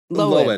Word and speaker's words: Lohan: Lohan. I mean, is she Lindsay sure? Lohan. Okay. That's how her family has been pronouncing it, and her parents Lohan.